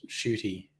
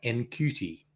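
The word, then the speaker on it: Ncuti: we I think late next year we get shooty as the doctor look at me being trendy I looked up how to pronounce his name because his name looks like n cutie uh and you pronounce it shooty I look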